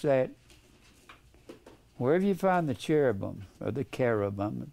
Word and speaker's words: cherubim: Now, I've established that Wherever you find the cherubam or the carobum, pronounced K like a C H E R A B I pronounced carabum like a hard Kh a verse 10 then I'll back up.